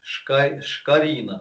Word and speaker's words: Шкорина: Ударение на И. Шкорина, да, то есть все понятно.